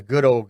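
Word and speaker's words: Goudeau: It's pronounced Goodo, but you did a great Goudea.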